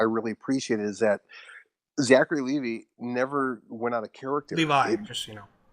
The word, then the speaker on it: Levi: appreciate is that Zachary Levi never went out of character. Levi, just Okay, well, Well, that's how he thanks. pronounced it. So just to be Okay. correct, Yeah. Zachary Levi. like the jeans, just think like the jeans.